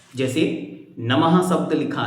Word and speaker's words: नमः: बोल रहे हैं जैसे नमः शब्द लिखा है तो न म और पीछे दो बिंदियां ये दो बिंदियां हैं विसर्ग उसको बोलते समय कैसे बोलेंगे नमः तो ह का उच्चारण आएगा जैसे श्लोक नंबर दो